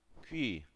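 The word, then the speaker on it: 귀: Qui, la oreja. Qui. Así es como se escribe y así es como pronuncia.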